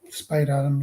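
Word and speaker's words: Spadeadam: Spadidam, is that how you pronounce that? What's Spade Adam? Spadidam. Spade Adam, yeah.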